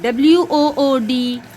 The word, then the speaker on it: wood: the sound of d so w o o d very good wood f now here you